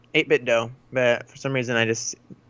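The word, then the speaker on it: 8BitDo: got one of the 8-bit do or a 8-bit dough maybe it's pronounced I was in mint endo 8-bit yeah there you go 8-bit dough but some reason I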